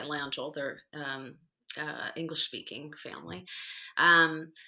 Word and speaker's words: Langille: well um actually bernie langell you can say you can pronounce atlanta or langell but they the landfills themselves go by langhold they're um english-speaking family